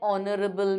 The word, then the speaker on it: honorable: saying honest honorable so in this case is where the h is silent we will use an right so that is